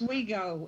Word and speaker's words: Oswego: Is that how it's pronounced? Oswego.